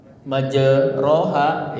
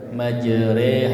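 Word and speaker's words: مجريها: 20 baroatun nanti di surat apa awal surah at-Taubah maka tidak boleh membaca basmalah ya 21 tulisannya majeroha bacanya majreha ini sudah bahas ini ya sudah kita bahas nanti kita perdalam lagi karena cuma satu tempat di Quran gitu kan.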